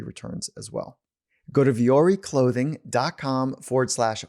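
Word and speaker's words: Vuori: versatile clothing on the planet punch over to viori clothing dot com forward slash finding mastery and so you spell it viori v u o r i v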